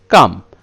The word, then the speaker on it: calm: শান্ত বা স্থির, শান্ত বা স্থির মানে হচ্ছে কাম, কাম মানে হচ্ছে শান্ত বা স্থির। এটার ইংরেজি স্পেলিংটা হবে CALM, কাম, অর্থাৎ এখানে এলটা উচ্চ থাকবে, এখানে এলটা সাইলেন্ট লেটার, স্পেলিংটা হবে CALM, কাম।